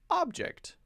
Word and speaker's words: object: Two-syllable noun, stress the first syllable. Two-syllable verb, stress the second syllable.